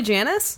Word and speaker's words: Janus: we just all called his name was actually Janus yeah G and you money yeah nominee probably hates it but uh your name rhymes with penis oh yeah we made